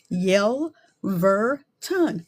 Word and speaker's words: Yelverton: When that is the case, I always say slow down. Yel ver ton.